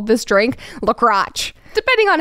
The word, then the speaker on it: LaCroix: Now, some people will say LaCroix, others LaCroix. Those are actually both wrong. The correct way to pronounce the name of this drink is actually LaCroix.